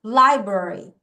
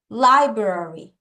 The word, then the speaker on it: library: 좀 빨리 R 다시 따라해 R 여기까지 간다 library library 리 Li libr 혀가 얘가 현데 혀가 우선은